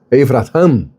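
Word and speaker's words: אברהם: Quando você pronuncia em hebraico Avraham, você está dizendo pai de um grande povo.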